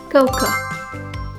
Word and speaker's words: cocoa: And the last word is so people usually say it like cocoa cocoa. So a common mistake is trying to pronounce the a at the end too strong. So the correct pronunciation is cocoa.